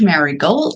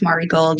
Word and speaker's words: Marigold: if you're wanting to watch Mar gold Mari gold said it wrong naughty mball if you're wanting to watch Mari gold you can subscribe to